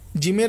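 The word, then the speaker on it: جيم: জিমের পেটে এক নুক্তা থাকবে। জিম। জিম খুব শক্তিশালী অক্ষর। এ কারণে জিমের উচ্চারণটা খুব শক্ত হবে।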